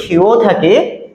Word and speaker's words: ক্ষ: এটাকে মূলত আমরা যুক্তক্ষ বলে থাকি, ছোটবেলায় পড়ে এসেছি যুক্তক্ষ, কিন্তু আসলে সঠিক উচ্চারণ হচ্ছে ক্ষীয়, এটাকে বলা হয় ক্ষীয়। ঠিক আছে, ক্ষীয় এর উচ্চারণ সাধারণত ক এবং খ দিয়ে করতে হয়।